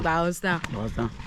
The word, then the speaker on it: Bowenstown: Is that a correct pronunciation? Like Bowenstown, yeah, Bowenstown. Yeah, so I'm here with Mr.